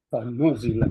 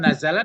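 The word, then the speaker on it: نُزِّلَت: Nuzilat. Maka diturunkan. Nuzilat. Yaitu. Jadi bukan nazalat membacanya lagi. Nuzilat. Nuzilat. Ya dibaca Ibu Iti tadi. Maka aku turunkannya. Dikasih tasdid.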